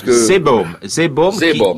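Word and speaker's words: Seebohm: c'est l'ouvrage sur la communauté villageoise anglaise de, je ne sais pas comment il faut le prononcer, Zeebaum. Alors voilà, oui, Zeebaum, c'est ça.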